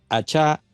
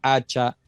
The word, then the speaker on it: Achá: Bueno, originalmente el apellido es vasco. Ajá. Y en la fonética de este lenguaje precioso y único, el acento debe ser en la última vocal. Allá. Pero me lo han pronunciado de tantas formas, siendo un apellido corto, que ustedes se sorprenderían. Me lo han pronunciado achá, que es la fonía original, hacha, asha, aca